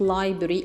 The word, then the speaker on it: library: خد بالنا يا ولاد من نطق اللايبرري ما بنطقش الار اللي في النص دي يعني I have to say it library automatically.